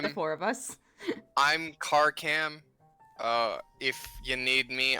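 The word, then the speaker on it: Karkam: I spell that just it is a k it is k a r k a m car cam gotcha okay I was I was like I heard I heard car ham and I'm like what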